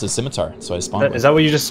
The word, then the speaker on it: scimitar: i did skimmy yeah i used to say rune skimmy i think i said scimitar because it's like scissors ooh smart i just heard of a scimitar from runescapes and and it was spelled like people would shorten it to simmy yeah and i just assumed it was skimmy and then when i saw the real word scimitar i just thought it was scimitar yeah i felt